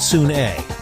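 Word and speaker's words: Sune: That's pronounced soon-a.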